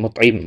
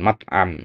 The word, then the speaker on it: Mut'im: Jubair bin Mut'im bukan Mat'am ya.